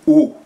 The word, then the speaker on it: eau: comme le mot oiseau, il y a pas une seule des lettres du mot eau ou oiseau qui se prononce.